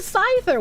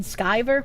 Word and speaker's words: Scyther: people oh Ethan van Scyther when will he evolve into a Scizor it is indeed skyver well I'm going to not pronounce it that way cuz it's not spelled that way EVS has been beefing